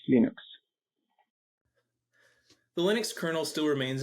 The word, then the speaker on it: Linux: this is lals and I pronounce Linux as Linux the Linux kernel Still